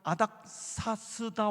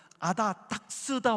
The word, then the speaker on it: 아닥사스다: 하시면서 결정적으로 실수를 하셨어요 성경에 나오는 아닥사스다 왕이 하는데 이분이 계속 그 아닥사스다 왕을 아스다 왕이 이렇게 발음합니다 그런 공개토론의 때는 사실